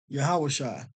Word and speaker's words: Yahawashi: the Savior the Messiah Jesus Christ to be yahawashi okay and so I did a previous lesson